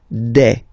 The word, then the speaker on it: des: Okay, and then the plural form, des. All right, here a S, you pronounce it like a.